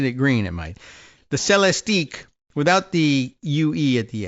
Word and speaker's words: Celestiq: And I don't know if they pronounce it that way, but it's C-E-L-E-S-T, like Celeste. And I guess the I fits in there too, Celeste, unless you thought the C-E-L-E was more like celery.